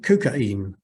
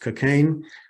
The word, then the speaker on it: cocaine: hemorrhages in childbirth and kukaim now usually pronounced cocaine then used in tonics